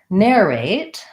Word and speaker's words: narrate: main distinction between these in the word narrate I have first syllable stress and it sounds like an air diphthong